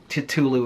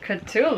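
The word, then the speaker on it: Cthulhu: mystery type you know Twin Peaks meets Tulu it's culu I well just well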